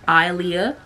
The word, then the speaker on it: Aaliyah: H like the singer but it's but it's pronounced Alia but if you want to call me